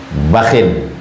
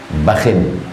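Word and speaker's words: بخ: Faqala Rasulullah sallallahu alaihi wasallam, Nabi SAW berkata, bakhin, ba dengan kha, cara membacanya dua. Pertama bakh, ujungnya sukun. Yang kedua cara membacanya bakhin.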